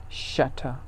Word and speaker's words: shatter: use rapture fracture or shatter shatter the british don't pronounce r at the end of the word so it's not shatter